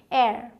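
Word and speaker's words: heir: अगला है जो कि मैंने आपको शुरू में ही बता दिया, इसे आप एच साइलेंट रख के बोलते हैं। इसे हेयर बोलते हैं लोग, लेकिन क्या बोलना है, एयर।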